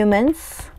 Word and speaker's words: months: first 몇 달 few months 참고로 th에 S 붙을 때는 스스 발음하지 않습니다 소리 내지 않아요 언제 이사온 후였죠 누가